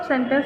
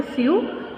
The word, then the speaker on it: sew: First sentence हमारा क्या है? My mother, SEWS। क्या है वर्ड? SEWS। इसको हम जनरली बोलते हैं स्यू, लेकिन जो इसकी करेक्ट प्रोनाउंसिएशन है वो है सो। SEW, सो।